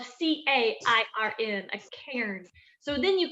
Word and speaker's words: cairn: But as a trail marker, it's called a cairn, and that's spelled C-A-I-R-N, a cairn.